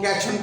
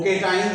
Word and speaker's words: cations: थोड़ी गलती करते हैं, वो इसको कैशन पढ़ लेते हैं, कैशन। लेकिन ये इसको आपने जब इसकी सही जो प्रोनाउंसिएशन है वो केटाइंस है और इसी तरह ये एनायंस है, ठीक है।